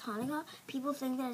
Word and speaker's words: Hanukkah: Like, it's fine if you spell it C-H because it's pronounced Hanukkah.